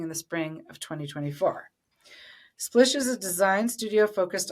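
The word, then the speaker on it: Splisch: Dylan is also the co-director of Splish, that's S P L I S C H pronounced Splish, a gender affirming swim and activewear brand launching in the spring of 2024. Splish is a design studio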